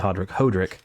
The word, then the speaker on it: Adel: I always want to say Hodrick. Adele. Or actually, his name is pronounced Adel, not Adele. That's a singer.